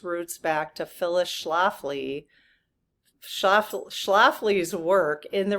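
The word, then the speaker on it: Schlafly: Oh, Shaflafly.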